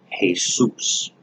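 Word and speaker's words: Jesús: Jesus actually comes from the Spanish name hey soos now I'm not going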